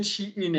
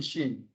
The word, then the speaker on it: Shein: So I'm pronouncing it wrong. You said Shein and I'm saying Sheen.